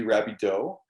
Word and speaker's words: Rabidoux: a lot more sense it used to be rabie doe and then they tried to anglicize it and they just bastardized